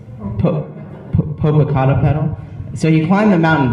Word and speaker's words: Popocatépetl: when he climbed the mountain, how is it pronounced? Popocatépetl.